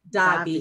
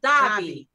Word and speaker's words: Davi: actor and singer Robert Davi here hey Robert to the show okay I pronounced his name wrong it's Robert die that's it darling not